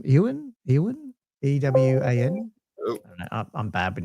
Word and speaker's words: Ewan: Ewan EWAN.